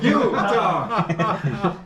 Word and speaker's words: Utah: That's two syllables. Utah. Utah. Utah are two syllables.